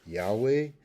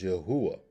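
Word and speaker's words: יהוה: Some people pronounce Yod He Wahe as Yahweh. Some pronounce it as Yahweh. Some pronounce it as Yahuwah.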